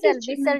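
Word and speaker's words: whistle: पे वििस्टल एंड विस्टल विसल टी नहीं लगाएंगे विसल टी साइलेंट है ना इसमें साइलेंट होगा विसल विसल okay लिसन द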